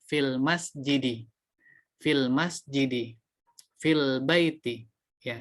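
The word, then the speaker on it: في المسجدِ: Bukan fil masjidu, tapi yang benar fil masjidi.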